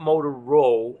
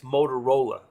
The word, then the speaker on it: Motorola: old company yes and not motor roll it's Motorola Okay so so I